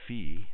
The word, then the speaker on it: phi: with an angle of fee let me draw that in with a finer pen or Phi I don't care how you pronounce it fee or Phi it's not theta okay